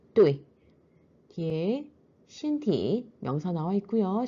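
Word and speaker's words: 对: 발음은 사성의 뚜이.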